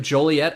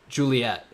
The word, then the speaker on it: Joliet: The city of Joliet, Illinois, it is actually illegal to pronounce it Juliet.